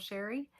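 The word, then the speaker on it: Chere: It is spelled a little fancy but pronounced plain old Sherry.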